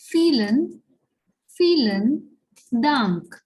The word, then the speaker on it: vielen: And here this word starts with V, but we know that the sound of the letter V in German is that of F. Okay. So that's why it is vielen Dank.